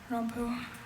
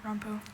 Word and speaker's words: rompu: It's used as of a heraldic ordinary rompu. R O M P U. Rampoo.